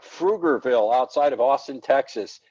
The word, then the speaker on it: Pflugerville: Like Pflugerville outside of Austin, Texas. It's spelled with a P, but you don't pronounce the P. You pronounce the F before the P.